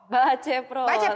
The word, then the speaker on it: Baceprot: We did go look up the pronunciation of that. Voice of Baceprot.